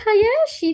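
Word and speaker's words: 林: emang Hayashi ya, bukan Iya, Hayashi dibacanya. Ya Rin, onyominya Rin. Rin.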